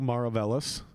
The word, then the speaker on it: Maravelas: don't drink uh maravellis uh no one knows how to pronounce your name correctly that is how you pronounce it that is correct i just i've gotten